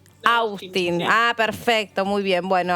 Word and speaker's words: Austin: Es un apellido de origen galés, no inglés. Ah, perfecto. Con lo cual, su pronunciación. Austin.